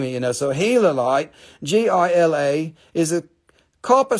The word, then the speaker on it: Gila: dang it this is gala light pronounced healer light like gila monster from gila arizona's the type locality type